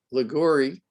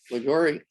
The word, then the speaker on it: Liguori: And without further ado, I'd like to introduce tonight's speaker, Liguori. Did I pronounce it right? You did. Liguri.